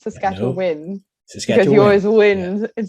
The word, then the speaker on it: Saskatchewan: to correct people here when they say saskatchewan won i'm like no it's saskatchewan win because you always win